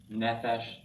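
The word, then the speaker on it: נפש: now um other examples nephesh soul okay they all have accent on the first syllable two cycles now um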